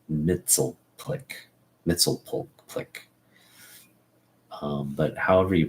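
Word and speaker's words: Mxyzptlk: People say Mitzelplick. I always understood it or read it as a kid to be Mitzelplick.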